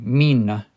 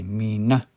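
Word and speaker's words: mîna: But if it's only two syllables, the word mana, usually you'll say the stress on the second one. Mina mean. You don't say mina. You say mina.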